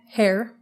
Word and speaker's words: Herr: Herr. Yeah, Frau is Mrs. Herr is Mr. Like hair like my... I know it's not spelled like my hair, but it's said like my hair.